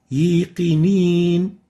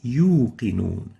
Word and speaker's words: يوقنون: Example, yiqinin, yiqinin. This is wrong. It's supposed to be yuqinun. Let's listen to the Hawsari. يوقنون Yuqidun and not yiqinin. So make sure you pronounce the wow from its proper articulation zone and avoid mixing it with a ya.